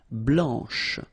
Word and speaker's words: blanche: final C, and then blanche. Okay, remember when you combine this CH, you get the sound sh, blanche.